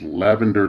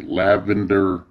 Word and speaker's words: Lavynder: she slash her that identifies my name is lavender and yes it is spelled that way lavender all right she describes her favorite colors